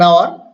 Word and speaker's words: hour: An hour. Here H is silent. H pronunciation is silent.